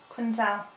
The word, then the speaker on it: Quinzel: your name Dr Quincy quinzel Accent on the last syllable gazelle no it just